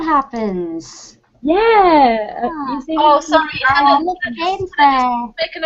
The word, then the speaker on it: Hannah: No, it's Hannah. It's just the Danish spelling of Hannah. Yeah, that's what I mean. It's like Danny Wallace's old missus was called Hannah, and her name was spelled that way.